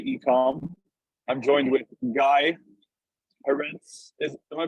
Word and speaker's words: Heretz: I'm joined with Guy Heretz. Am I pronouncing your last name correctly?